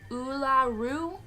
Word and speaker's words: Uluru: So what the name of the place is and how to pronounce it. So this is Uluru.